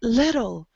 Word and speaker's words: little: have two Z's here when you guys see two consonants you only pronounce them once so we say little we don't say little little like trying to make the tea very strong we don't do that try a very soft T little little uhuh and puzzled